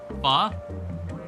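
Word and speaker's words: phở: Pho? Is that a different thing? But I mean, that's how it's pronounced. But it's like spelled P-H-O in Vietnamese.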